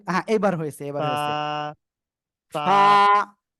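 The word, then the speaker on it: فاء: অক্ষরটা কি অক্ষর পা ফা পা ফা নিচের ঠোঁটের পেট সামনের উপরের দুই দাঁতের আগার সঙ্গে লাগিয়ে হালকা বাতাস বের করে এক আলিফ টেনে আমরা এই অক্ষরটি উচ্চারণ করব ফা সবাই একসাথে বলেন সবাই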